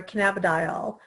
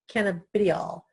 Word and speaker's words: cannabidiol: CBD stands for cannabidiol. Some people pronounce it cannabidiol. So, I mean, there's a couple different ways to pronounce it.